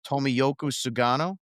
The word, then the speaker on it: Tomoyuki Sugano: It is going to be Dustin May against Rogers, and it's going to be Walker Buehler against Tomoyuki Sugano, I think is how you pronounce it.